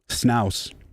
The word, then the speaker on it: Snouse: Snouse, rhymes with house, from Patreon says, what's the sitch on the super group you got going with Space Laces?